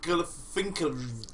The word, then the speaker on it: Galifianakis: And it's got Zach Galifianakis.